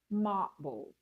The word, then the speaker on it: marble: Marble. Marble. Many non-native speakers will say marble. Table. They stress every part of the word. So take note. It should stress just the first syllable.